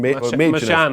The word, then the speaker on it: Machin: Jeroboam Machin, Machin, Machan, I think it is. Yeah, Machan, whatever.